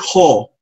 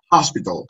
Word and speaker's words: hospital: No es ho. Recuérdense que la o no existe en el inglés. Es hospital. Hospital. La palabra pot, top, ¿se acuerda que estábamos viendo? Pot, top. Esas palabras se pronuncian con este sonido. Ha, ha, entre la O y la A.